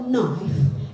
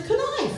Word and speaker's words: knife: say you don't spell knife n i f e mhm and I'm like why not n f and she's like no there's a K in front of it and that's a silent k what the [ __